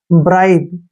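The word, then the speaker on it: bribe: करेंगे ठीक है ना ई का उच्चारण हम नहीं करते हैं क्योंकि लास्ट में अगर य आता है तो उसको पढ़ते ही नहीं हम ब्राइब देखिए ब्राइब को बोलते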